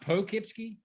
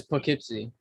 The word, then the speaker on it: Poughkeepsie: google maps gypsy yeah is it not pokey it's poughkeepsie yeah because it looks like keepsake yeah weight spell it's